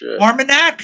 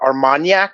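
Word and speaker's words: Armagnac: AR it looks like conac but armanac I guess Arman sounds about right conac is sp I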